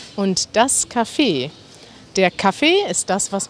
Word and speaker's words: Café: dem man kaffee trinkt da benutzen wir tatsächlich die französische schreibweise mit c und einem e und ein axa und am ende und das spricht man das café aus also man trinkt kaffee